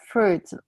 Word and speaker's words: fruit: But because it sometimes it have S at the end, and then so I don't pronounce the T and the S.